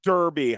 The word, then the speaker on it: derby: game going on and I call it Darby and someone goes that's not English okay it it's pronounced Derby how would you not know well it depends what kind of English we're talking about my